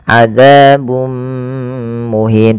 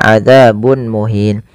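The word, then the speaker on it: عذاب مهين: idgham big bununah yaitu cara membacanya memasukkan tanwinnya kepada mim dan ditahan adzabum muhin tidak dibaca adzabun muhin.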